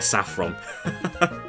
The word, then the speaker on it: Saffron: Saffron, the accent is on the A.